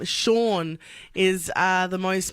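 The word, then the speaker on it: Seán: look up as well apparently the Irish name sha is uh the most mispronounced name in the world s e a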